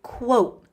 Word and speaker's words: quote: Quote sounds like coat. You put on a coat. Quote. Coat, but there's a W.